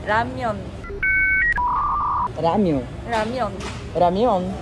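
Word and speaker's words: 라면: É que aqui a gente chama de lamen, mas na pronúncia mesmo é ramyeon.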